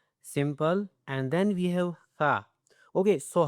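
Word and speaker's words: ث: Simple and then we have tha. Okay, so how to pronounce the tha word, okay? It's uh it's a simple to touch the tip of tongue with the upper two teeth edges.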